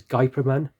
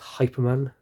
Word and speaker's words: Hyperman: it's really cool now you might know it perhaps as guyperman but he's Spanish so it's pronounced hyperman what can we do